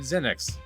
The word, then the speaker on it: Zenix: Arid Zenix. The Z is silent.